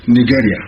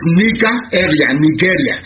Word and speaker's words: Nigeria: Nigeria.